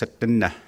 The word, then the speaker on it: Tsuut'ina: You start looking at all of that, and I think somebody asked about Tsuut'ina Nation. Proper pronunciation is Tsuut'ina.